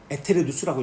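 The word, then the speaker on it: aeternus: 그래서 교회 용어로는 에테르누스라고 읽습니다. 아에테르누스는 이거는 일반적으로 쓸 때 시작이 있는 영혼은 에비테르누스라고 단어 씁니다.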